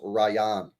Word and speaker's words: Rayan: By the way, Ryan is pronounced Rayan. Rayan Cherki, yeah?